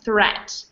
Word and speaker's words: threat: an EA it's spelled it's pronounced like an e threat versus create the next